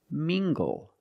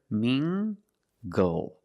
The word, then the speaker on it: mingle: Let's look at this word mingle using the nasal m sound and the hard gather. Mingle.